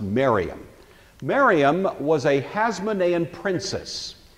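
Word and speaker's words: Mariamne: by the name of Mariam spelled something like Mary Omni but it's usually pronounced maram Mariam was a haonan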